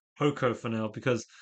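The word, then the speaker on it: Poko: main character called um Poco. Oh, I think in Japanese it's like Ko Ko Ko cuz it's it's it's like a long O.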